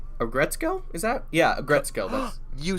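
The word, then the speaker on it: Aggretsuko: uh a agret a gretzko is that yeah a gretzkov you said it right bless your heart yes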